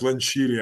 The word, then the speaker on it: Lencioni: uh, Lencioni, I believe that's how we pronounce it, right? We're both going to botch it. It's Lencioni, I Yeah. believe. Okay. Yeah, that's that Italian way of saying it.